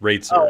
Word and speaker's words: Roetzer: is um so my my last name is actually pronounced rates nobody knows that and